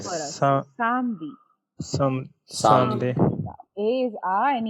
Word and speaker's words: samedi: No, not Sam. Samedi. Yeah, A is Someday. A. Yes, A is A Right. for us. Some- Samedi.